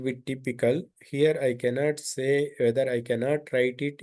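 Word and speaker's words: ث: It is in between th and s, in between these two letters.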